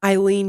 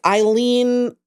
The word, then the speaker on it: Ailen: So it's AILEN. Eileen USA. Eileen USA 1098. And Meagan, they got some exclusive footage. Okay. Okay, I don't know who captured the footage, who submitted it. If Eileen herself, Eileen 1098 USA, If she's out there.